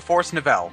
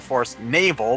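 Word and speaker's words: Forest Navel: to go to the force Nel yes I know it's supposed to be pronounced the force Naval but I've always called it the force Nel so that's what I'm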